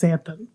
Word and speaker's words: xanthan: an x at the front x-a-n-t-h-a-m but it's pronounced xanthan so but they discovered that it significantly reduced